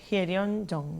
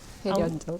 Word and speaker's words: Hyeryun Jung: Así que recibo en el estudio a Hyeon Jong, que, bueno, si lo leen en el rótulo lo vamos a leer un poco diferente, pero la pronunciación correcta es Hyeon Jong, ¿no? Exacto, Hyeon Jong.